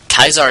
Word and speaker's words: Caesar: actually learned that uh kaiser is the actual italian or latin way to pronounce uh caesar because they actually have the c as a k sound so for instance instead